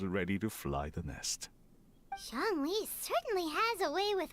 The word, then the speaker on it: Zhongli: I love the way he says Zhongli, because I believe that is very close to how you say it in Mandarin.